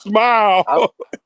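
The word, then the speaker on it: Smael: Hey, look, I said Samel Mondon Jr. Here, I'm ready. It's smile. It's smile like you smiling. It's smile Man, Monday. that shit doesn't say smile.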